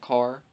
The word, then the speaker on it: char: number character actually and it's just pronounced car and that is a